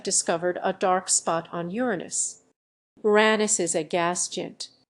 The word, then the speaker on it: Uranus: solution to this problem the alternative pronunciation of the name which goes Uranus and most scientists in public roles do use this pronunciation but for me Uranus